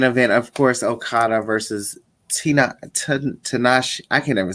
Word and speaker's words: Tanahashi: But in our main event, of course, Okada versus Tanahashi. I can never say his name, honey. Tanahashi, honey.